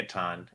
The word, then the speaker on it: Catan: It's definitely Catan. It's like German roots. I've looked it up. I've researched this whole thing. But I can't not say Catan.